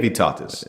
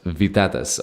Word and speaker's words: Vytautas: Yeah, it's Priene Vytautas. Vytautas.